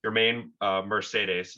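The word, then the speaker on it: Yermín Mercedes: it your main mercedes your main uh mercedes is how he prefers it to be pronounced yeah he uh yeah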